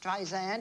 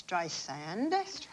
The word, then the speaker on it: Streisand: in case she is, she does not like it pronounced Streisand. It's Streisand.